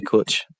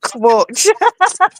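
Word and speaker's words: cwtch: We clutch. You know what I mean? I said it with a W. I said clutch.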